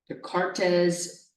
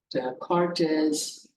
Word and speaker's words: Descartes: Something else you can do here is called the Descartes rule of sign. Descartes rule of signs. The S, this S is silent, the cart is.